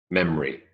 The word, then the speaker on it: memory: Memory, 2. Memory. There's an O, it vanishes. It's elided away.